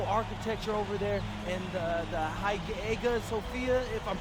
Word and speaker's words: Hagia Sophia: And one thing I'm really looking forward to is I hear they've got a beautiful architecture over there, and the Hagia Sophia, if I'm pronouncing that right, is supposed to be fire.